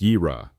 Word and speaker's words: יִרְאָה: Next comes Yirah, pronounced Yirah, often translated as fear of the Lord, as in Proverbs 1:7.